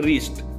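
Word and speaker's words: wrist: पहिला आहे रिस्ट, तर रिस्ट मध्ये W सायलेंट लेटर आहे।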